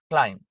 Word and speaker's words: climb: දැන් උදාහරණයක් හැටියට බලමු climb. දැන් මේ climb එකේ B අකුරක් තිබ්බට මේක climb කියලා කියවෙන්නේ නැහැ.